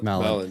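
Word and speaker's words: Mallin: And it's the passage from Ireland, where is Milan, is that how you say his name? In front of the firing? Michael Mallon, yeah.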